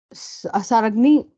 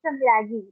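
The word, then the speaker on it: Samragni: Yeah, it's Samragi. Just the N is silent.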